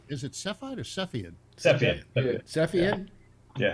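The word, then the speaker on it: Cepheid: It's Is it Sephiide or Sephiid? Sephiid. Sephiid. Yeah. Sephiid. Yeah. I know. So hard to pronounce.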